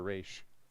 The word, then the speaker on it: Ra's al Ghul: Is it Raz or Raish? I'd like to say Raish when I can. Because I knew Ra's al Ghul from, that's how I pronounced it, just from Yes. checking it out and not knowing any better. Raish is the way to say it, but there's no real